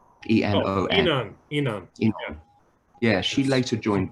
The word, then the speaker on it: Enon: And the girl from The Laps, Toko Yasuda, Japanese woman, she later joined, can't pronounce their name, Enon, E-N-O-N.